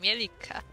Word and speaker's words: Mielikka: It's a double K, Mielikka. Mielikka. There we go. It comes from Finnish.